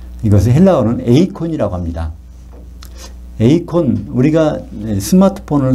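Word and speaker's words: εἰκών: 에이콘, 우리가 스마트폰을 쓸 때, 컴퓨터를 쓸 때 아이콘이라는 거 있죠? 그게 아이콘이라는 것이 영어가 이 에이콘에서 나온 겁니다. 아이콘은 눈으로 보이잖아요. 그죠? 에이콘이 영어식으로 발음하면 아이콘이 됐고, 거기다가 이제 우리 이미지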